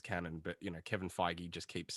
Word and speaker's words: Kevin Feige: name properly kevin fiji what jeff globe no kevin feige kevin feige yeah yeah we pronounced his name alone if you guys didn't